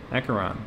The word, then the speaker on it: Acheron: Acheron. Okay.